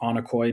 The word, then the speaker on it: onocoy: Um your project or company is called Anokoy. Did I am I getting the pronunciation right?